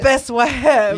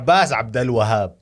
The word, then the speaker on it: Abbas Abdel Wahab: Abbas Wahab. Yeah. Okay. It's not even Wahab. You're It's like, Abbas Abdel Wahab.